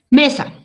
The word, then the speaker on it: mesa: Mesa. Esto yo lo separo en 2 sílabas. ¿Ven? Ya lo separé en mesa. ¿Dónde lleva la fuerza de voz? En esta penúltima.